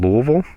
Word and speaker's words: Louisville: at the oak conference here in Louisville that's how it's pronounced we kind of disregard all the consonants that'll be on March